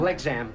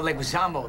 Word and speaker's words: Leguizamo: Leguizamo, you got to get it right. You're going to introduce me. It's going to be embarrassing if you don't say my name. Legzam. No, Leguizamo. Leguizamo, listen to my lips. Watch. Leguizamo. It's really easy. Legzam. You're not that close, man.